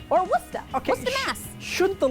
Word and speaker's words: Worcester: Oh, Similar to this one, which is Worcester or Worcester.